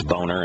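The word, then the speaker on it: Boehner: we've got a a congressman named uh boner but it's uh it's uh phonetically it's boner and now we've got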